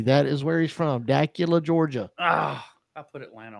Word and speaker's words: Dacula: Esposito out of Dacula, Georgia. Yes. He's a 15-year-old Italian-American. Out of where? Dacula, Georgia. Is that Decatur? D-A-C-U-L-A. It's what his dad sent to me. That is where he's from. Dacula, Georgia.